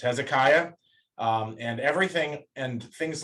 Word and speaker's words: Hezekiah: It's Hezekiah, and everything and things like there's a guy named Hilkiah. Generally, I's before A's are always Aya. So like Hilkiah, Eliakim, Hezekiah, that sort of thing.